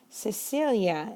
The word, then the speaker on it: Cecilia: Cecilia is how we pronounce the name. And I use this name deliberately because I want to point out what happens to the sound of the C next to the letter E.